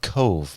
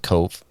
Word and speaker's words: Cobh: and it's called no it's called cove but it's spelled c-o-b-h i don't i don't know how they do stuff over there but it's pronounced cove cove pretty sure and the majority of